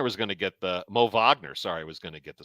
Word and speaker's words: Wagner: he's been getting the start everyone thought Mo Wagner was gonna get the mo Vagner sorry was gonna get the start but it's